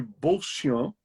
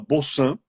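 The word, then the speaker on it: Beauséant: Ela é chamada de Bolsian, é um termo em francês, Bolsian, às vezes fala Bossan, né?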